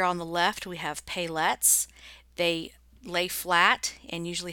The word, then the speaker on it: paillettes: confused with sequence and the word is pay let's pay let's that's how you say it so let's take a